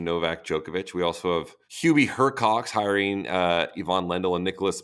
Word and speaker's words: Hurkacz: It's Hurkacz. Hurkacz? Yeah. Yeah, get out. I didn't know that. Like right. Hurkacz. Anyways. Hurkacz. Djokovic. He was pronouncing the C, S, and Z all together.